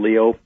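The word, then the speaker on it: Lyot: It's spelled Liat. It's a French pronunciation, Leo, from a French astronomer.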